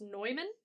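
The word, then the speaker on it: Neuman: Ourselves by Andre uh I think it's pronounced noyman could be wrong though spelled NE M an and then um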